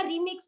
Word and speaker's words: राम: ने सिखाया था कि उसको आपको रामे बोलना है राम नहीं बोलना है वो राम है एक्चुअली लेकिन उसका जो उच्चारण है देहात भाषा देहात की जो बोली है उस तरीके से बोलना है तो गुरुजी ने